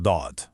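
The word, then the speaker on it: ض: But to actually pronounce dod correctly, you've got to press the sides of your tongue firmly against your upper molars to produce this deep, trapped, full sound.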